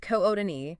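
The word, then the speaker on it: Kootenai: The CDA Metropolitan Statistical Area, which is essentially Coutai County, spelled K O T N A I, pronounced K Odin, has grown by 11% since 2020.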